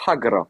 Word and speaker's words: hagra: Elle te fait la hagla. Tu tu le prononces mal à bou, c'est hagra. Hagra.